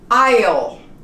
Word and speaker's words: aisle: a difficult one perhaps aisle you don't pronounce the S at all the state of Illinois